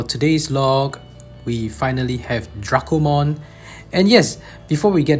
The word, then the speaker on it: Dracomon: And why do I pronounce Dracomon, not Dracomon?